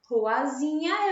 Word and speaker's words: ruazinha: Qual é a sílaba mais forte da palavra ruazinha? Vamos chamar ruazinha? Ruazinha! O zi é a sílaba mais forte. Ela é a última, penúltima ou antepenúltima sílaba? Isso, ela é a penúltima.